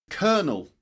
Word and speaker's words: colonel: Colonel. Colonel. Colonel. Colonel. That's colonel as in for example. Let me give you an example. as in bird. Bird. The vowel sound. I mean bird. Cur kernel. Colonel.